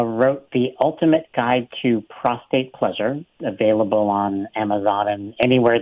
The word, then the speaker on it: prostate: a fair amount about prostates and I'm going to learn even more by the way lots of people mispronounce a lot of people lots and lots of people say prostrate rather than prostate and so it's mispronounced